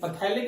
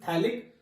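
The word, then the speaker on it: phthalic: बेटा पीएच is silent in this case, यहाँ पे पीएच साइलेंट होती है, थैलिक, पैथेलिक एनहाइड्राइड नहीं है, दिस इज थैलिक एनहाइड्राइड बेटा, क्लियर।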